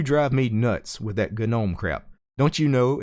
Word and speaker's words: GNOME: me nuts with that gun ohm crap don't you know it's pronounced gnome the G is silent if your are one